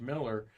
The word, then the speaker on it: Mueller: Miller, Mueller, but pronounced Miller.